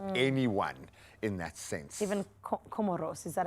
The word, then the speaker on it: Comores: I say Comores. Comores. Just say it like It's an you're on the island education. and the soft wind is blowing past your I face. feel it already. Comores. It just drifts from the wind.